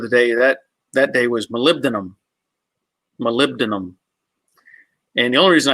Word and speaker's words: molybdenum: And to learn to spell it, you would say molybdenum, molybdenum, but pronunciation is molybdenum.